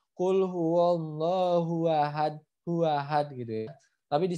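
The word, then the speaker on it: أَحَدٌ: Ya, jadi bacanya kul huwallahu ahad. Seperti itu, ya. Jadi kul huwallahu ahad. Seperti itu. Jadi harus dipantulkan ketika sukun. Seperti itu ya. Karena sukunnya ini sukun karena berhenti. Begitu.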